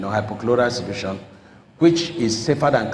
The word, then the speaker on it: hypochlorite: State, and produce chloroform, hypochlorite solution. That's the correct pronunciation, hypochlorite solution, which is safer than chlorine in water treatment.